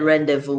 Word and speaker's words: rendezvous: fair laser fair and rendezvous and he said rendezvous we cannot look the other way z all right so we don't pronounce the z in rendezvous and then laser